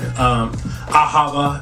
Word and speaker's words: ahava: Ahava is how they pronounced it in Jewish tradition.